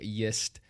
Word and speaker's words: GIST: Jake, when he was pronouncing it a couple podcasts ago, GIST. No, it's just like it sounds.